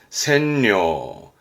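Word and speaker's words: 占領: 발음은 센려, 센려.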